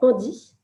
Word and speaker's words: ANDI: services, et en particulier un service qui s'appelle Handi. Donc, ça s'écrit ANDI.